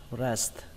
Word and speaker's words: breast: Cả hai âm sờ và tờ này cũng đều quan trọng, nên các bạn cứ đọc là breast, breast, breast.